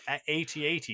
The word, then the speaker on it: AT-AT: It's pronounced AT-AT, not at, and it's like no Well, what?